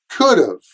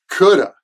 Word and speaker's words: could have: talk about the pronunciation could have is usually contracted as could've could've could've and in American English we usually pronounce could of as coulda coulda we use could have